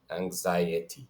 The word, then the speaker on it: anxiety: So you're pronouncing the I and then the E. No, not fusing them. Anxiety.